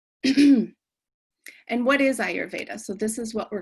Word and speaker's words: Ayurveda: say it a lot so it is i your veda and what is ayurveda so this is what